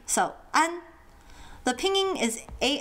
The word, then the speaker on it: ㄢ: Now for an there isn't a very good English equivalent. It's not an and it's not on. It's somewhere in between. The best example I could think of is the Spanish word for bread, pan, as in panaderia, bakery.